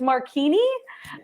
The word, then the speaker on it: Marchini: him you did yeah we've been pronouncing his last name wrong it's marchini okay I am sorry Chris I'm so sorry okay Chris marchini oh I'm glad that